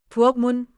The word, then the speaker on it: 부엌: I 부엌문 앞에 밖에 and 있네요. 좋아요. 연습해 볼게요. I'll repeat. 부어 pronounced 부엌.